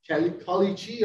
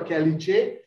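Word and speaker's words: caliche: this is called uh kolichi or kelly check are there different pronunciation i i have a different accent so i pronounce it differently so it's just nothing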